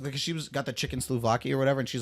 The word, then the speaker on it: souvlaki: The chicken souvlaki. Said it wrong again. Suvalki.